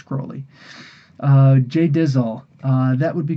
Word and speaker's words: Crowley: Um, Ozzy Osbourne pronounced it Crowley. It's not Crowley. it's Crowley.